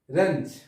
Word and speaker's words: wrench: তারপর হচ্ছে রেঞ্জ। রেঞ্জ। রেঞ্জ, এটা হচ্ছে বিকৃত করা। রেঞ্জ শব্দের হচ্ছে বিকৃত করা। এখানেও কিন্তু ডাব্লিউ অক্ষরটির উচ্চারণ হয়নি।